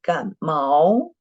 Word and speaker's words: 感冒: What you wrote is 感冒. It's not mao, it's mao. Mao, which tone? Mao is not mao. Mao, mao. Yes, right. The fourth tone.